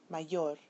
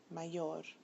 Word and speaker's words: mayor: The following words follow rule number 2. So listen carefully. Español, regular, mayor, amor. When you listen to them, you'll find that the bolded syllable is the one that receives the stress.